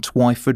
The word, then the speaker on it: Twyford: garage service station on Twyford (rhymes with why) Road in Eastleigh.